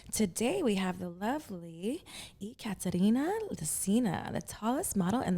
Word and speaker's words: Ekaterina: get it there yes it's ya katarina it's it's difficult to pronounce especially for american people i can see why